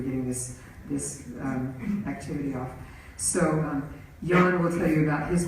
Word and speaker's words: Jan: And so to wrap things up, we have Jan. It looks like, but it's pronounced Jan, but that is very opposite of his personality.